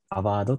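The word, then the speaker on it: AWRD: よろしくお願い所詮 aw rd と書いてアバワードと呼びますこのアバードの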